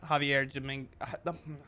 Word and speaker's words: Javier: for our world champion Javier Dominguez, the J I'm pretty sure is silent, Javier Dominguez.